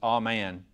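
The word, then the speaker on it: אמן: So the root word for faith is pronounced exactly like it looks, amen. And that's probably the Sand Mountain Hebrew version, but seems to me it's pronounced amen.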